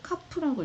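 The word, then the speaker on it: KAPF: 자, 그래서 작가가 현실 세계를 변화시키려는 의도를 가지지 않고 어느 시대의 목적이 있었느냐에 따라서, 어느 시대의 목적이 있었느냐에 따라서 참여시, 계몽시 이걸 카프라고 읽어요.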